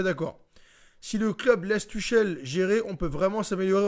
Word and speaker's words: Tuchel: Tu prononces pas le nom de Tuchel, lol. Ouais, Tuchel, c'est Tuchel. Tuchel.